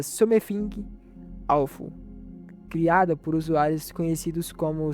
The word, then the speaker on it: Something Awful: A teoria mais aceita diz que surgiu em um fórum da internet, Sometingaufu. Como eu falei, meu inglês não é dos melhores. Eu acho que a pronúncia certa seria Something Awful, criada por usuários conhecidos